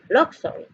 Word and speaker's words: luxury: to be pronounced oh so the second U is o let's call it was not it's not or in this case in this case so that's a word that you need to know to know you have to know it from based our class of reading from loss of reading they need to know this word because it doesn't quite pronounce the way it looks nothing exactly so this